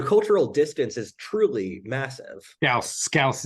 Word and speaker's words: Scouse: Scouse is how it's pronounced. As someone who's born in Liverpool, but yeah, Scouse.